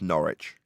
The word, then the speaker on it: Norwich: Okay, this is after in the Pronounced Norwich.